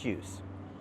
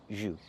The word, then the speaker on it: jus: This is orange juice. So, what is that word he's looking at? That is jus. It's French. And we pronounce it in English, jus. We don't say juice, we say jus.